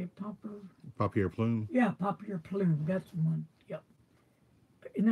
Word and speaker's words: Papier Plume: Yeah, Papier Plume.